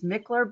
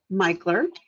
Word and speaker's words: Michler: to just mention this everyone always thinks the last name is mickler but it's actually pronounced michler yeah sorry no no